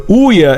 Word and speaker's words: Ouya: It's pronounced like Booyah without the B. The Ouya is not meant to be a competitor with the current generation of consoles.